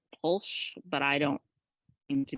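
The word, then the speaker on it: Pwyll: Prince uh I think his name is polsh p-w-y-l-l I think you pronounce that polsh but I don't seem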